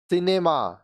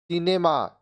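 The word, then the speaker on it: cinema: है स और क सी के बाद ई आई वाई आए तो सी का उच्चारण स होगा देखिए कांसेप्ट समझिए अगर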